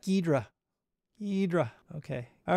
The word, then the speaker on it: Ghidra: always forget that and I call it gidra and voila it's just easier and faster gidra requires like a little bit more effort in the pronunciation so forgive me for that gedra gedra okay all right